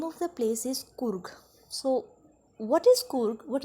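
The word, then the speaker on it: Coorg: This will pronounced as Kurg, not as Korg.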